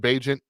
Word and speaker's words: Bagent: There's no Justin Fields, although Tyler, I think they were calling him Bajent, and I'm disappointed if that's the actual pronunciation because I love the nickname Bilbo Bagent.